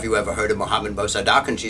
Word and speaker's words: Mossadegh: And so his name, Mohammed Mossadegh, the way I will pronounce it, Mossadegh, Mossadegh, Mossadegh.